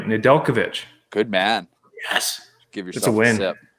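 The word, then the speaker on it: Nedeljkovic: of capri zones in here and i did pronounce his name right nadelkovich good man yes give yourself a win that's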